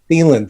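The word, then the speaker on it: Thielen: Thiemann, thank you.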